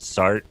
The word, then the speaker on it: Sartre: name but uh is is it sart it's you know it's spelled like sartre but it's i think it's pronounced start and i i i